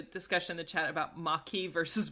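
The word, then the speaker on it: Maquis: also there's a discussion in the chat about maki versus marquis and i agree it sounds that pronunciation thing screwed me up so much when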